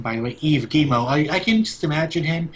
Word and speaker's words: Yves Guillemot: That's how you pronounce his name, by the way, Yves Guillemot.